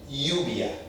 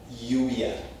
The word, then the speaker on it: lluvia: Lluvia. Lluvia is a rain.